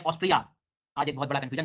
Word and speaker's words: ऑस्ट्रिया: में check Republic सेक Republic उसके बाद में ऑस्ट्रिया आज एक बहुत बड़ा कंफ्यूजन दूर हुआ मेरे जीवन में कि ये स्पेलिंग गलत नहीं है एक्चुअल में कंट्री है